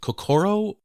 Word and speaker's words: kokoro: I hope I pronounce this right. Is it kokoro?